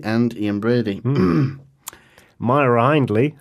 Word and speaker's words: Myra Hindley: Yeah, Myra Hindley and Ian Brady. Yes, Moira Hindley and Ian Brady. Myra Hindley, according to the Sex Pistols song.